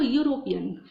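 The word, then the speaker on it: European: अब यहाँ देखो, कहने को तो ई है, मतलब कि यहाँ पे क्या है, वॉवेल है, ए, ई, आई, ओ, यू, लेकिन यहाँ पे क्या है, इसका प्रोनाउंसिएशन यू से है, य से है, या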